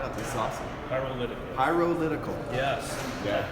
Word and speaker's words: Pyrolytical: Pyrolytical. Like pyro and political together. Okay. Hey, it's 5 syllables like representative.